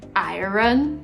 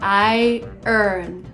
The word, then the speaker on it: iron: Did you just say iron? No. The right way to pronounce is, attention, iron. Iron. This is iron. Iron Man, not iron.